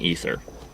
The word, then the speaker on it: aether: and she gets infected with the aether which they kept pronouncing ether even though in the subtitles you notice that there's an a then an e science science can't explain